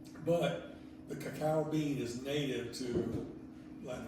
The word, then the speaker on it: cacao: Cacao. The cacao. How do I say? Cocoa is how we say cocoa bean, but in Spanish it's cacao.